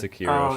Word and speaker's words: Sekiro: How do you pronounce it? Sekiro? Or? Sekiro, Shadows Die Twice.